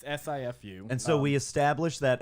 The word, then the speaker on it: Sifu: I think that's pronounced Shifu. All right. It's SIFU.